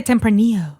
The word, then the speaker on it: Tempranillo: I think the L is silent or something because it's a Spanish wine. Yeah, people say Tempranillo, not like Tempranillo.